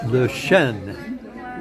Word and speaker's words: Le Chêne: So that's the latest here from my favorite restaurant, which is called Le Chêne, with an N pronounced.